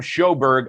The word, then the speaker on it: Sjoberg: and directors today uh shawna winslow and shoberg i got that right the j is pronounced s as in h and told